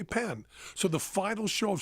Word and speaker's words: Penn: my name right once did he call me right every single time I said it's actually pen it's a different word than it's and he